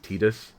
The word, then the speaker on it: Tidus: Before anybody says, I know it's technically pronounced Tidus, because it's meant to be an allusion to the sun, but everybody calls it Tidus because they assume it's